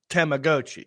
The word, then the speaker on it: Tamagotchi: Pronounced Tamagotchi.